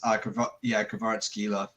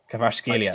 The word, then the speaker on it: Kvaratskhelia: I'm pretty sure it's pronounced Kvaratskhelia is the closest one. Kvaratskhelia. Excuse me. Thank you. Kvaratskhelia. The K is silent. Happy days. It's that Georgian pronunciation.